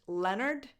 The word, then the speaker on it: Lynyrd: The name of this American band is actually a misspelled version of this name, which is a character from a book. So it's pronounced Leonard, just like Leonard Cohen.